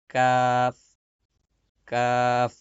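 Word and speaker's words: ك: লাগানোর পর উচ্চারণ করবেন কাফ, কাফ। আমরা বাংলা যেমন ক উচ্চারণ করি ঠিক একই জায়গা থেকে, একই মাখরাজ থেকে ক, ক, ক, ক, ক, কাফ, ক, কাফ, ক, কাফ।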